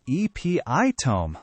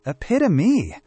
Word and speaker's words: epitome: I thought it was epitome, like tome meaning book. It's not. It's epitome.